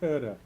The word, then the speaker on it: Goethe: Yep, Philip Melanchthon, if that's how his name is pronounced, with Goethe, and there's Goethe's name. It's actually Goethe.